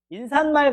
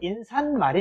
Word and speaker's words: 인사말: 근데 사실 얘는 표준 발음을 뭘로 설정해놨냐면 인사말로 설정을 해놨어요. 원래는 인산말이 돼야 돼. 인산말.